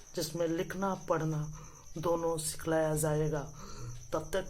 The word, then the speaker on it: पढ़ना: इसको क्या पढ़ेंगे? पढ़ना। पढ़ना नहीं, पढ़ना।